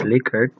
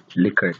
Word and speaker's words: Likert: on the Likert scale by the way it's pronounced Likert because the name the author of the scale is rensis likert he himself called the scale liquor because he's surname is liquor so anyway it